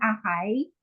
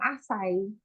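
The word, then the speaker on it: açaí: Tapos, I've heard of some people saying Akay, pero most of the time, Asay, yung pronunciation nila.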